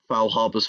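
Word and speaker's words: Faulhaber: Um but therefore, Foul Harbor's formula, I've finally remembered how to say it correctly.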